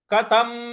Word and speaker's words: कथम: देखिए यहां अर्जुन पूछ रहे हैं कथम कथम क थ थ के ऊपर जो अनुस्वार है उसका उच्चारण हम म ले आएंगे कथम भीष्महम भीष्ममहम कथम भीष्ममहम